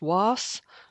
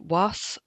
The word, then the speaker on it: Walls: After that, we're going to head out towards um a place that's spelled Walls, but apparently pronounced was um or something like that.